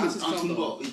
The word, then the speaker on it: Antetokounmpo: Antetokounmpo. I have an easier time with Antetokounmpo than I do... But, it's not Boo. It's not Boo. Bo. It's not Boo. Antetokounmpo.